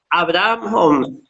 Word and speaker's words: Abrahaan Hom: En esta ocasión estamos con la presencia de Zaira, ¿cómo se pronuncia el apellido? Abraham Om.